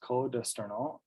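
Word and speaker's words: Cos d'Estournel: Usually the one that's most people's favorites is this Côte d'Esternol. I actually believe you pronounce the S here. Usually you don't in French, but this is Côte d'Esternol.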